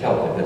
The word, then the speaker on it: Celtic: you know that is the pronunciation is Celtic it's not the Boston healthy you're referring to